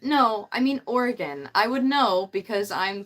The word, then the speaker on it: Oregon: like oh you mean Oregon and I was like no I mean Oregon I would know because I'm from Oregon it's it's pronounced the same way as like the organs in your body it's organ that's how